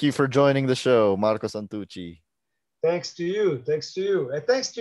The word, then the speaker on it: Marco Santucci: for joining the show marco santucci thanks to you thanks to you and thanks to you for for say my name in a good way in a good way yeah you say it right i've uh well